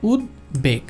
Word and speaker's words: উদ্বেগ: উচ্চারণ করার চেষ্টা করবে, কিন্তু না, এটাকে আলাদা আলাদাভাবে উচ্চারণ করতে হবে, অর্থাৎ উদ্বেগ, উদ্বেগ, ক্লিয়ার?